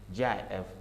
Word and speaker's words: GIF: GIF pronounced GIF by many, including the design pronounced GIF with a hard G by many others.